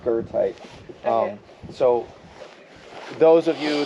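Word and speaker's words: goethite: e there's no r in it but it's pronounced gerti um so those of you that will take minerology when you see it you'll know why she said gote but it's gerti alosine and alosine not aine you've had historical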